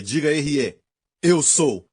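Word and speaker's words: אהיה: Erier, diga Erier. Eu sou. É pronunciado assim, escrito dessa forma. Certo? A, Aleph, Rei, Yud, Rei.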